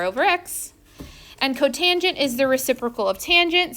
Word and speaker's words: cotangent: cosecant secant and cotangent that is how you pronounce them even when they're shortened so don't say for